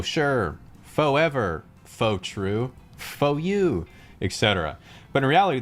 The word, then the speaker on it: pho: Pho sure, pho ever, pho true, pho you, etc. But in reality, the word is actually pronounced pho, as in farted.